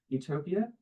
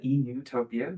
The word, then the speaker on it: Utopia: here everyone wondering um Utopia in it's as it was originally pointed is a PL it sounds like Utopia eutopia meaning good place um but it's spelled Utopia as in no place and so while